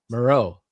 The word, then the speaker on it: Moreau: Now I gota say Maro. Did I say it right? Yeah. It's not Mororrow.